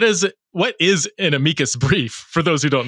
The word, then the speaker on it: amicus: So you recently submitted in Okay, so I was saying amicus brief, but it's amikas brief is the actual pronunciation.